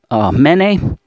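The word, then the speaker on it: מְנֵא: Okay, this is a mem, nun, aleph, mene. Okay, pronounced this way.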